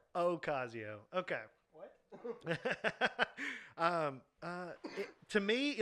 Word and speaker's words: Ocasio: cause EO Cortez all right there you go Ocasio or or Acacio Ocasio okay to me like do I want her